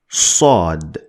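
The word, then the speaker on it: ص: i'm talking about so in order to pronounce sod sod sod sod need to lift the back of your tongue to the roof of your mouth to get it the best way sod sod the four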